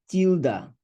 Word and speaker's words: tilde: Now look at this tilde, call it tiled. But most author call it tilde. They pronounce it like tilde, right?